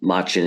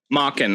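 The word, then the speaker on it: Machen: Um, and that was of course as you just were talking about, that was the Machin. Is it Machin? Machin Arthur Mockin I believe is how how pronounced that was based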